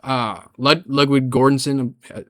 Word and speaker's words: Ludwig Göransson: Also the score Ludwig Göransson that's how you pronounce his name.